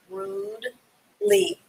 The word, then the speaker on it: rudely: should study daily okay rude the e is silent when you pronounce it rude lee rudely l r-u-d-e-l-bye please do